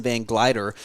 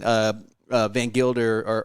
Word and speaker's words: Van Gilder: For the last 2.5 years, I've been calling him Grayson Van Glider, and I told Will, earlier today, I said, I have a confession. I've been mispronouncing his name on the air, and nobody's called me out, so I'm calling myself out. But we've seen Van Gilder or GVG.